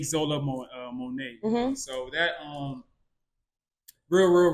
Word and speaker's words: Monee: my mother's middle name but she pronounced it like mon but I don't I don't know why she do that I don't like that so I just pronounced it like Monae and yeah Z mon